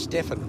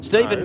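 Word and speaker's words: Stephen: sportsman correct and um Steven oh s t e p h e n I thought always I thought that was Stefan. But anyway, Steven. That's how I spelled my name.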